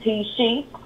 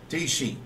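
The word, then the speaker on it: Tyshe: I know it's a mouthful, so you can just call me T-She. How you spell that? T-Y-S-H-E. T-She.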